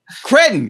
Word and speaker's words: Cretton: Destin Daniel Cree- What What How do you pronounce his last name? I Cretton Cretton Destin Daniel Cretton.